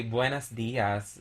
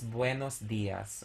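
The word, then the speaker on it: buenos días: that they speak spanish would just say buenas diaz which is wrong we don't say buenas buenas dias it's buenos dias okay so in my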